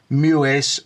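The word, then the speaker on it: Muiz: And like I said, I hope I haven't terminated your name, but I'm sure it's pronounced Muis, and it's M-U-I-Z, Temujin, and that's Temujin, Temujin Idris, Idris.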